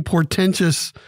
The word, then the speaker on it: portentous: we have a many portentous topics to talk about today portentous is the word of the day three syllables p-o-r-t-e-n-t-o-u-s it is an